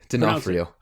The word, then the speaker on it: D'Onofrio: The serial killer is played by Vincent D'Onofrio. Is that how I always get that? Is that you pronounce it? D'Onofrio.